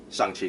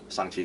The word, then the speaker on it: Shang-Chi: And to be honest, I'm not expecting anyone, like I said, I'm not expecting anyone to say Shang-Chi correctly.